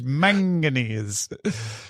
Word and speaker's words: manganese: All right, let's talk about one of the harder words to say in the English language, manganese. How do you say that? Is that right? Yeah, you got it right.